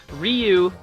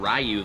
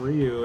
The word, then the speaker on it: Ryu: setting down the characters Ryu they got his name wrong they called him rayu the whole movie which is a little